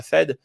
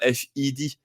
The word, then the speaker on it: Fed: on va vooir la Fed mais fed on prononce fed on prononce pas FID donc il y a